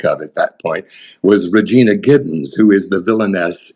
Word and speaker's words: Regina: And then I said, so that's American pronunciation would be Regina. Mhm. But Queen Victoria was known as Victoria Regina. So I think we maybe should call her Regina. And he said, okay, just make sure it's always Regina. So, Pronounce that R real hard. yes, hit that R.